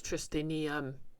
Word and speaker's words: Tristinium: It's Tristinium, like aluminium.